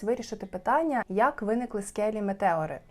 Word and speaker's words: Метеори: Magical місце воно називається монастирі метео звичніше вимовляти Саме так але правильно буде Метеори колись декілька століть назад